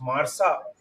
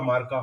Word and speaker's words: Marca: Marsa has recently written that, how Gareth Bale is basically sucking away Marsa or Marca, however you हाँ pronounce it. हाँ मार्का, हाँ हाँ मार्का, या right, सो दे